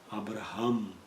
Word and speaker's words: Abraham: Na verdade, o melhor pronunciado seria Abraham, porque foi um H simplesmente introduzido no meio do seu nome, dando uma modificação.